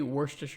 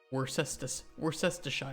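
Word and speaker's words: Worcestershire: You pronounce we we say worsture sauce. I don't know if anybody has a good way to say worest sauce.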